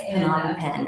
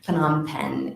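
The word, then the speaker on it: Phnom Penh: capital cities that correct that is correct yes p on pen is the capital of Cambodia okay can you spell that sure it's pH n o m and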